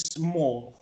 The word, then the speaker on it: small: Ok, a butterfly is small. A butterfly is small. Entonces, ¿qué pasa aquí? Este adjetivo se pronuncia small. Small. No es small, no. Es small, no. Small. Como esa S, perdón, saliendo suavemente.